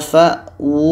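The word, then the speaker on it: فَأْوُوا: Fa ini bertemu dengan hamzah bacanya fa. fa. Sedangkan ini wau berbaris depan bacanya wu. Nah, ini yang orang agak keliru membacanya. Ini adalah wau kecil di atasnya tanda mad. Bermakna wu ini dibaca panjang karena ada tanda madu kecil.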